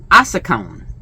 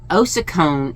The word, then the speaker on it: ossicone: So at first it looks like ossicone. And that ossicone is how they say it in the UK. Ossicone, A-H sound, ossicone is how they say it here in the US, supposedly, according to Google.